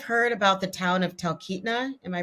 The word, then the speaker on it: Talkeetna: And then I've heard about the town of Talkeetna. Am I pronouncing that correctly? Talkeetna, yeah.